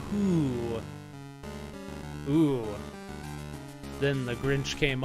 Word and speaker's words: Who: No, it's pronounced who. It's pronounced who.